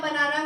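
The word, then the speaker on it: banane: बाद आता है हमारा बनाना तो बनाना आप सबको पसंद होगा मंकी को बहुत पसंद है लेकिन हम बनाना को बोलते हैं ल बनान क्या बोलते हैं ल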